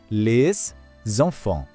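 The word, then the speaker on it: les enfants: On prononce le tout d'un seul bloc : « lesonfon ». Écoutez à nouveau calmement. « Les zonfon ». Cette petite liaison est l'une des caractéristiques et des plus belles choses de la prononciation française.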